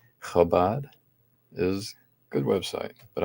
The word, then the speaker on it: Chabad: Chabad? Yeah, and if I pronounced it wrong at first. Same with Chezi. So the CH is strange for English speakers. Chabad is a good website,